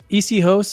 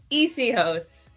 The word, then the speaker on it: Essihos: it for me well it's you can see easy host or you could say ecos I just do less less hosts and more